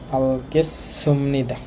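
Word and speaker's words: 알겠습니다: লেখা আছে আলগেসুমনিদা, উচ্চারণটা হবে এইরকম। আল এই শিও তার সাংসদ মিলে চয়সর মতো হয়ে যায়। আলগেসুমনিদা অর্থ হচ্ছে বুঝতে পেরেছি।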